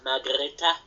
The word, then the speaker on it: Margrete: go to Peter Grouse yes uh good film margareta as it's pronounced uh seven out of ten from me